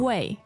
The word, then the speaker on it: 喂: Second tone. Second tone. 喂。Even though the dictionary sometimes give fourth tone. Fourth tone. 喂。 Yeah. However, that is hardly how people pronounce it.